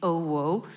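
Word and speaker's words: OWO: Uh, so Raffles London, the official name is Raffles London at the OO, pronounced like JLo.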